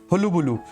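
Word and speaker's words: hullabaloo: फिर यहाँ पर देखिए इंपॉर्टेंट वर्ड लिखा है, इसकी प्रोनाउंसिएशन बड़ी अजीब सी है, हुलुबुलु।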